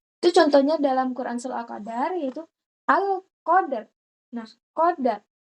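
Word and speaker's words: القدر: Itu contohnya dalam Quran surah Al-Qadar yaitu Alqadar. Nah, qadar. Qadar dibaca langsung ya. Jangan, jangan dibaca Alqadr. Alqadr gitu, tapi langsung al-qadar.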